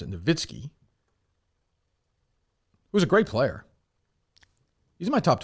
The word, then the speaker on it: Nowitzki: Dirk, I pronounce it Nowitzki.